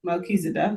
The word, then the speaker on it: Melchizedek: So they were greeted by first by Melchizedek. That pronouncing it right? Melchizedek.